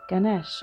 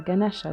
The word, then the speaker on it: Ganesha: love and had a son ganesh interesting there's ganesh or ganesha depending on how you want to pronounce it um ganesh called upon paravati for